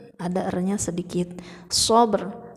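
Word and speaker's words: صبر: Sabr, ada r-nya sedikit.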